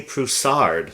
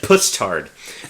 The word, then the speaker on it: Poussard: name right, yeah, I feel like the proper pronunciation, what's his last name again? Poussard? Should be Xavier Poussard. Yeah. Which sounds far more credible. Yeah, it does. It does. Especially because I thought she said puss-tard before.